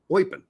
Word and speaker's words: Eupen: I've been calling it Eupen. Now it's fair enough, yeah. Okay. Well, you won't ever have to worry about pronouncing it ever again, guys.